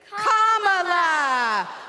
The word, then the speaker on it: Kamala: do you pronounce it first you say comma like a comma in a sentence then you say la like la la la la la put it together and it's one 2 three comma all right so let's